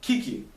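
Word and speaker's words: Kicci: This kid is a half-year-old and is named Kiki. Kiki is spelled K-I-C-C-I, which is the spelling of Ricky with a K.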